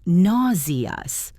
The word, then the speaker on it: nauseous: Or if you feel like you need to vomit, you can say, "I feel nauseous." That is a difficult word to pronounce for some learners. It sounds like nauseas.